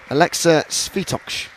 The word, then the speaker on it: Alexa Svitoksh: Well, I want to make sure I actually say her name correctly because she Yeah. corrected us early. It's Alexa Svitoksh.